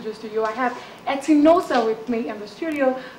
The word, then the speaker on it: Etinosa: It's Etinosa. Etinosa. The N is silent.